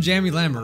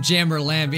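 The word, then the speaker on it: UmJammer Lammy: on the channel um Jammy lammer right no I said it wrong um Jammer lamby it clearly says um Jammer Lamy I think I said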